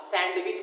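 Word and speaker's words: sandwich: Wednesday is, आप सैंडविच बोलते हैं, सैंडविच नहीं होता, सैंडविच होता है ना, डी को साइलेंट होता है, सैंडविच, है ना।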